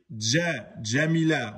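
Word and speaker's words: جميلة: J français, mais c'est comme si l'on entendait un D juste avant. C'est pour ça qu'il faut bien dire Jamila. On ne dit pas Jamila, Jamila. Non, on dit Jamila. Exemple, Jadid aura une prononciation plus proche de Jadid que Jadid. Ok? Donc, n'oubliez pas le D devant. C'est très important, beaucoup ne le mettent pas. Hein. Ils prononcent le J français.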